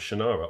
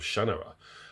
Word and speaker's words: Shannara: that is the 1977 classic, The Sword of Shannara, or rather, The Sword of Shannara. Apparently, I've been pronouncing it wrong all these years, by Terry Brooks.